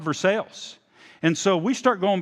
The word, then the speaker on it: Versailles: i think it's pronounced verse french influence and french the l's are silent so i'm pretty sure it's pronounced verse she said no i i think this is i think it's called for sales and so we start